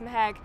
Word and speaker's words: Mehek: my name I go it's mehek like what the heck I'm actually interestingly started